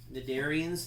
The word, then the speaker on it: cnidarians: called in the Darien's cnidarians the C is silent what do they have